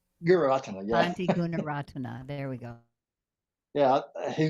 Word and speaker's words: Gunaratana: I forgot how to pronounce the last name, Guratana. Um, some of his books, Meditation on Perception, Oh, and I would really like to I think you probably mean Gunaratana. Guratana, yeah, Auntie Gunaratana.